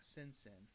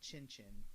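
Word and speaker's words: Cin Cin: personal favorites is uh simpson or chinchin it's a c-i-n-c-i-n so people i've heard it pronounced simpson i've heard pronounced chin chin so i don't know i'm going with simpson which i still need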